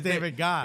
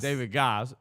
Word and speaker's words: David Goss: First, David Ass is also it's a fun Yeah. one. They mispronounced it. It would have been David Oss because it's David Goss. It's David Goss.